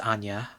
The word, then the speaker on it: Anja: Okay, so Alice agrees it should be pronounced Anya. in spite of captions saying, no, no, it's Anja.